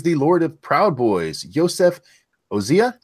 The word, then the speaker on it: Yosef Ozia: Joining us tonight is the Lord of Proud Boys, Yosef Ozia. Did I say that right? You said it right. It is me, Yosef Ozia.